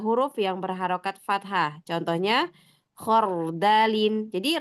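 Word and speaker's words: خَرْدَلٍ: yang berharakat fathah contohnya khardalin jadi ro sukun sebelumnya huruf yang berharakat fathah ya yang keempat ada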